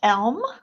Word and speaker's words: Elme: It is pronounced Elme Communities.